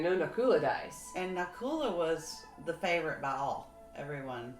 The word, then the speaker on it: Nakula: kul a knock-knock hula I've been calling an ocular okay I listened to the Mahabharata and I'm trying to remember how they pronounced it so so now it's Nakula Arjuna Bhima and yuddhistir